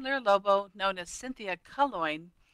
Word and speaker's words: Calongne: I'm Lyra Lobo, known as Cynthia Calongne. Yep, it rhymes with coin.